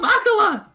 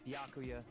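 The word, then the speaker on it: Byakuya: leave me alone you're all so annoying ah bakula it's yakuya oof i'm sorry i couldn't keep our promise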